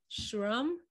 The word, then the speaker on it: Schramm: to you my listener his name is jd shrum he made sure that i pronounced it the german way because that's the right way i'm so happy that